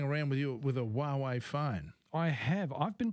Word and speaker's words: Huawei: you've been playing around with you with a huawei phone I have I've been playing with the huawei mate 10 Pro and 4 we explain why